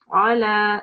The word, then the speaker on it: على: make sure that your ayn sound is not distinguished with your alif sound, so don't mispronounce it, okay? So it will be أعوذ بالله من الشيطان الرجيم بسم الله الرحمن الرحيم ولا يحض على طعام المسكين. على, so it's coming from your throat.